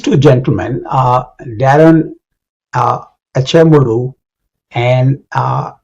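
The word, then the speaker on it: Acemoğlu: So uh uh these two gentlemen uh Darren uh Amuru and uh G is silent in his name. is a Turkish name and James Robinson wrote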